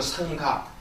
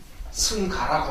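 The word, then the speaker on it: Saṅgha: 그래서 또 이것도 예전에 여러분께 설명해드렸던 부분인데 원래 이제 이것이 이제 인도식 표현으로 상가, 이것이 이제 승가라고 합니다.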